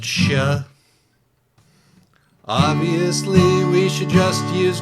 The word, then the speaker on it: Xie: And in that one, XIE is pronounced Shia.